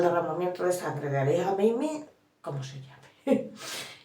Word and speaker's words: Jamenei: Ahora me he enterado cómo se dice, se dice Jamenei, o sea, Jamenei, la primera J no la puedo decir, lo siento, la voz como Jamenei, Ali Jamenei.